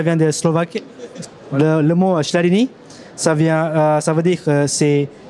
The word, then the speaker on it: Schladini: Alors, fais voir comment ça s'écrit, le Schladin, parce que j'ai du mal à le prononcer. Ah, c'est avec C-H-L-A-D-E-N-I-E. Schladini. Schladini. Deni. Schladini.